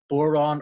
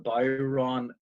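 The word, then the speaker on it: Bodhrán: would be the deafener, but it's pronounced Bodhran or Bodhran, depending on what part of Ireland you come from and how much you've been drinking at the time.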